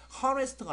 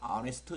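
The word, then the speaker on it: honest: 그래서 아니스트 같은 경우도 하네스트가 아니라 아네스트 이런 식으로 발음을 하는 것 같습니다.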